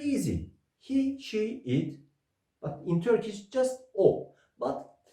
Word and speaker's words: o: But in Turkish just "O". But be careful to pronunciation. Not "OU". O.